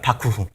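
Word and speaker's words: 幕府: 일본식으로 발음하면 바쿠후입니다. 바쿠후.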